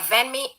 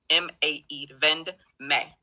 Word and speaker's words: VendMae: Yeah, Venme, VENME, right? Oh no, Vend as in abbreviation for vendor. So VENDMAE, Vend May. May is spelled M-A-E.